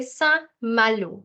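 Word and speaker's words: Saint-Malo: that's another city and you have to say sa Malu it's the a sound here okay and the T I'm not sounding here again again because it's a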